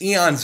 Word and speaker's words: Aeon: This is Aeon's End. And yes, in case you're wondering, that is the correct way to pronounce it.